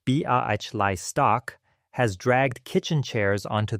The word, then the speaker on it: Białystok: On the next stoop east, a Jewish family from Białystok, Poland, pronounced Białystok, has dragged kitchen chairs onto the stone.